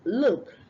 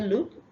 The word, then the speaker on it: look: cook today all right the next one is look not L you say look you're pronouncing l u k e that's somebody's name is